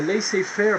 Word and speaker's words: laissez-faire: You have to pronounce it in English because that's how the English pronounce it. The laissez-faire policy is something that is very new at the time.